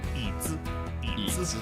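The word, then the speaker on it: 椅子: like for example, just the word for chair, eats. And I was always like, I always felt like I was saying it wrong, and I felt like I couldn't get it. And then once I got that contrarian idea of like, okay, third tone, then I suddenly was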